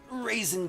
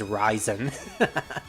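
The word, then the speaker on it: Reisen: you know Rey like half of the word is Rey literally Rey which is a Japanese word and people pronounce it as Ray so it's raisin but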